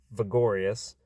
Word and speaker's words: Vigoras: Vigoras, or sometimes pronounced Vigorius, is George's mispronunciation of the word vigorous, which describes a person who is strong, healthy, and full of energy.